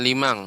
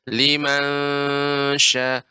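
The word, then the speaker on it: لمن شاء: Ya, jadi pengucapannya ya, dia lidah tidak sampai naik ke atas, tidak melengket. Liman juga bukan, tapi juga tidak masuk ke bagian dalam, ke limang, bukan lima. Jadi dia digantung.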